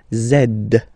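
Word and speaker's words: zède: zed zed okay so remember to pronounce this D at the end zed zed okay so let's see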